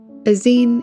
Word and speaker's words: zine: comic a navigation map aen is pronounced with a sharp ey and sounds more like scream then fine and so it should